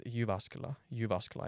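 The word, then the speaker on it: Jyväskylä: how do we pronounce a city nowadays it's yasa yuasa I believe is the pronunciation you you you're the one with the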